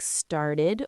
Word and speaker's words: started: Sometimes it sounds like itid. This happens when the verb ends in a t or a d sound already like started or needed. Oh, I see. So, because start ends with a t, we add an extra syllable to make it easy to say.